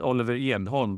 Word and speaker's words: Oliver Edholm: So welcome to Oliver Edholm. In Swedish, I guess it's Oliver Edholm, but no one would understand what I'm saying if I pronounced your name that way.